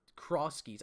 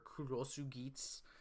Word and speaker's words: Cross Geats: His name is Cross Geats or Kurosu Geats. Or I think like it's spelled X Geats. And then like it's supposed to be like in Japanese Kurosu, like if you take